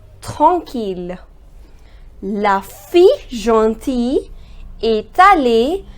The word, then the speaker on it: tranquille: The pronunciation is tranquille.